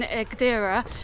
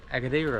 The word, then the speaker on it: Agadir: Where our accommodation was in the last place in Agadir, there was like no supermarkets. Did I say it wrong? Yeah, Agadir.